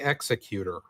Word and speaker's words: Executor: I call it the Executor. In this case, it's more like executive, officer.